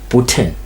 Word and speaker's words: Bhutan: Kevin is going to assist me with the pronunciation bana Makedlamini. It's Bhutan.